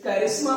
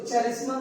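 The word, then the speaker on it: करिश्मा: Charm के से ही आपका निकल के आया है और वो बना आपका कैरिस्मा। इसको चेरिस्मा नहीं पढ़िएगा, कैरिस्मा पढ़ेंगे यहाँ पर, याद रखिएगा प्रोनाउंसिएशन भी आपका जरूरी है।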